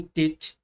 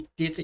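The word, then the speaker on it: ט: O TET é transliterado por um T com um ponto embaixo, para diferenciá-lo da letra TAL, que será vista mais adiante e tem o mesmo som, que ele é muito parecido.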